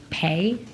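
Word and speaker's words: Pai: And today, Senator Van Hollen's staff stated that he questioned Chairman, I believe it's pronounced Pay, P-A-I, Yeah.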